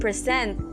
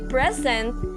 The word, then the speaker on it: present: syllable of a word like for example the word present and present when we say present it refers to a gift when we say present it refers to someone performing in front in front